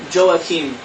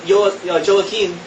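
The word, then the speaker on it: Joachim: are and um the father is known as joakim and i i did some searches online to see how it's pronounced and i saw that even christians were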